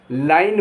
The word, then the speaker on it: line: और आखिर में अगर ई लिखा है तो उसका कोई उच्चारण नहीं होगा।